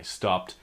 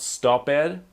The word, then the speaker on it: stopped: pronunciation is not IDI it's not stop ed but it's actually a T sound it's not stop it